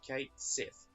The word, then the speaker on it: Cait Sith: in English red cap it's Kate like the name Kate it's not see there's not ee it's a single I mean sits a cait sith Fellini on time experience